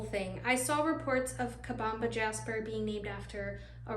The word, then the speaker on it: Kabamba: call it Kaba but going forward I'm going to be pronouncing it and spelling it on my website as kabamba I finally confirmed that